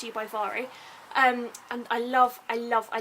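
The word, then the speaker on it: Mhairi: it's you by no i think i've always been pronouncing her name wrong i think it's vary mcfarlane mari so sorry sorry levari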